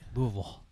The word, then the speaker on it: Louisville: Yeah, that's how you say it. Get it right. Louisville.